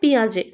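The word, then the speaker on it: Piaget: মহর্ষি Patanjali Lord sweet Lord Macaulay নাকি জ্যা পিয়াজে? পিয়াজেকে কিন্তু অনেকেই জ্যান পিয়াজ গেট বা অনেক রকম উচ্চারণে বাংলায় লেখা থাকে আর কি ইংলিশে জে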